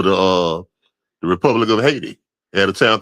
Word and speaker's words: Haiti: called North South Carolina called Haiti, but some of them pronounce it hay tai, but like I said, but we had black comm thriving black communities all over the place, man.